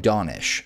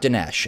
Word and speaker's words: Donish: I checked this time, he pronounces his own name Donish, so it's not Dinesh, as I've been mispronouncing this entire time.